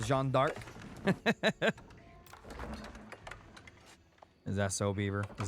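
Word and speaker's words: Jeanne d'Arc: of the map uncovered it's pronounced Jean dark is that so Beaver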